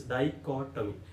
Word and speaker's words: dichotomy: Dichotomy means, see the syllables, there are four syllables. Dichotomy.